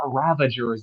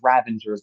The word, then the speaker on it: Ravengers: It's not Ravagers, it's Ravengers to rhyme with Scavengers, who is not in this list because they didn't matter very much.